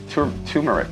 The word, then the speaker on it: turmeric: Turmeric. Turmeric. Turmeric. It's got an R in there. It's pronounced turmeric.